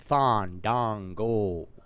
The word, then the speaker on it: Fandango: I'm sorry, let me say it right. Fandango. I just call him Blandongo.